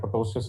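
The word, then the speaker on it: ptosis: करते हैं तो अगर टोसिस हो, पी इसमें साइलेंट है, टोसिस नहीं है, टोसिस, टोसिस का मतलब होता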